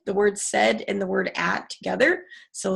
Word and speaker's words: Saidat: Yeah, there aren't a lot of Saidats around. So, well, in Nigeria there are because it's a common name and it's also Arabic. So the correct pronunciation can be Saida.